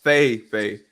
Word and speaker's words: Feige: How you pronounce it? Sorry, drink your water first. I'll let you go. Feige.